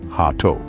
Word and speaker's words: gato: combine the two syllables remember the G is soft like an H so it's hat say it with me gate remember to keep your G soft let's try it again